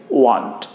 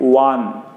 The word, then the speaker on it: want: आपको तो आप करेंगे वांट। वांट बोलने के लिए वांट बोल सकते हैं इसको, या और भी अभी साउंड में टी को साइलेंट करके बोल सकते हैं। आप बोल सकते हैं वान।